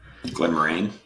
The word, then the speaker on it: Glenmorangie: All right, number 8, Glenmorangie, 16-year-old, The Nectar. Glenmorangie. Thanks for fixing my pronunciation.